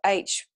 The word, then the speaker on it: hygge: Hygge, the Danish Hygge, it's called, which is spelled Hygge.